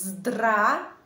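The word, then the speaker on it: здравствуйте: regardez attentivement ce mot n'essayez pas de prononcer chaque lettre dans ce mot je prononce comme ça drap et ensuite je ne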